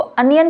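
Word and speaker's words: onion: हैं तो यह आपको कैसे पता लगे की उसको अनियन पढ़ने हैं ओनियन नहीं पढ़ने जब आप उसको बार-बार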